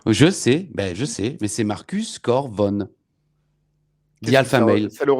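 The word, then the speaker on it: Cor Von: Et tu as prononcé Corvorn. Je sais, mais c'est Marcus Corvorn.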